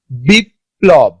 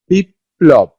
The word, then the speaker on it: বিপ্লব: বিপ্লব, বিপ্লব, এখানে কি একটা প সঙ্গে যুক্ত হয়েছে কিন্তু কয়টা প উচ্চারণ করছে, দুইটা প উচ্চারণ করছে।